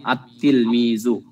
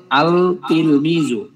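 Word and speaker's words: التلميذ: একটা আলিফ থাকবে আত্তিলমিজু এমন না যে আল তিলমিজু এরকম উচ্চারণ হবে না আলিফটা সরাসরি তাকে ধরবে আমরা যারা আমরা কোরআন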